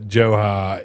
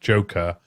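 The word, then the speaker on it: Dzhokhar: I really do wish Johar it was pronounced Joker.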